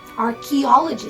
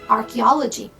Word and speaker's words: archaeology: Archaeology. So we have the k sound. Archaeology.